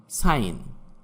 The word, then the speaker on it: sign: সাইলেন্ট জি, যেমন সাইন, SIGN, এখানে জি এর উচ্চারণ হবে না।